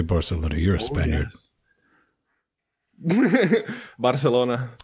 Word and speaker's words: Barcelona: Barcelona. Barcelona.